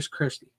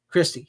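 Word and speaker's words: Kristy: Is it Christy or Kirsty? Christy, yeah.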